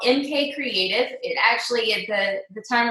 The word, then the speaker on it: CRTV: It's MK Creative, and creative is spelled CRTV.